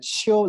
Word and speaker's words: 秋: In Li and Kai script, and other radical we pronounce it Qiu, the first tone, and his radical is He crop and have 9 patterns.